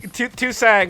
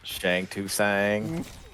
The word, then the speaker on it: Shang Tsung: Shang Tsung is the S tier character, but only if you mispronounce his name the way they did on middle school playgrounds, like Shang Tsung. Tusang was always exactly what my friends and I thought it was pronounced for years.